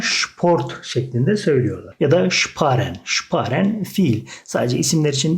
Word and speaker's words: sparen: S, P, şıp şeklinde okunuyor. Yani S, P olduğunda kelimenin başındaki S harfini biz Ş şeklinde okuyoruz. Kelimenin başındaysa.